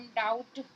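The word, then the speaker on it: doubt: तो कभी भी ऐसा तो नहीं है कि सभी जगह बी साइलेंट होगा, लेकिन कुछ ऐसी वर्ड मीनिंग है जहाँ पर बी साइलेंट होता है, जैसे कि बॉम, कॉम, टॉम, डाउट।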